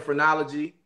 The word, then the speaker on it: Phrenology: so the rest of 2002 you had the phrenology from the roots that's how you say it